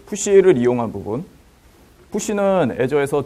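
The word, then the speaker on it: Azure: 애저의 그 장점은 한 가지 말씀드리자면 그 아주르라고 발음하지 마시고요. 애저라고 하시요. 예, 아주르 아닙니다.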